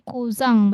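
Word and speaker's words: Cousin: Kalau laki-laki kuzang bacanya ya. Tadi mana tadiang? Nah, ini cuman N belakangnya kan itu serapan juga ya. Kuzang serapan Prancis.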